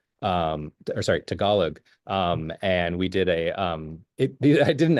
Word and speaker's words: Tagalog: Victor here actually can speak Tagalog, or sorry, Tagalog. And we did I didn't ask it for a phonetic pronunciation of that, obviously.